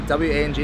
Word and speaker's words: Wang: It's actually W-A-N-G is pronounced Wang.